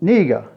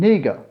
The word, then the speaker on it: Niger: a country next to nigeria which called nega that's how the locals pronounce it and i found that